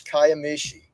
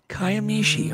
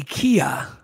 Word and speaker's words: Kiamichi: to them pronounce that it's kayam Mishi is how that's actually just be glad I didn't say Kia there's actually a fellow